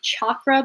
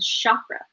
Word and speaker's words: chakra: trying to re-learn and re-teach myself to say chakra because that's the correct way to say it but i've always just in my head said chakra um but it says